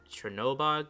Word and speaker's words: Chernobog: to leave turn about chernobog chernobog that's how you pronounce it chernobyl yeah but chernoby